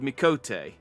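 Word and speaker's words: Miqo'te: suddenly thought to myself, am I pronouncing it right? I should check. And then I googled, and apparently, and this might not be the case anymore because this might have been posted before Endwalker, but apparently there's like one cutscene that's voiced in the entire game where someone actually pronounces the word Mikote. I am pronouncing it right, pretty much, but it's just interesting to me.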